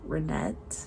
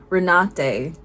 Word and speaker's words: Renate: Jesse Buckley was really good in Hamnit, but I think Renee Renette, I just looked up how to pronounce her name. Renate I think was fantastic in sentimental value because again, subtlety.